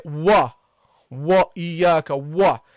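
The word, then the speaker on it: إياك: Okay, don't say wa, wa iyaka wa. The waw is not a heavy letter, guys. It's a light letter.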